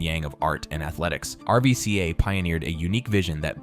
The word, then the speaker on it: RVCA: When Pat Tenor founded RVCA, pronounced RVCA, in 2001, he set out to create something beyond just another clothing brand.